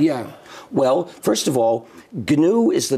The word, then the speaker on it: GNU: well any government yeah well first of all ganu is the name of the operating system I started in 1983 it's pronounced G Linux is a kernel it's one